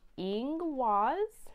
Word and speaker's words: Ingwaz: Okay, this is pronounced Ingwaz.